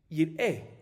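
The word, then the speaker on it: יִרְאֶה: Ahorita, Yerae se escribe Yud Resh Alef Hei. Y se lee Yerae, pero también, y está bien escrito. Pero también se puede Yir'e, que quiere decir no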